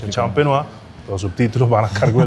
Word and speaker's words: champenoise: se tiene que hacer con un método específico de elaboración que se llama método tradicional o método champenois que se escribe champenoise champenoa los subtítulos van a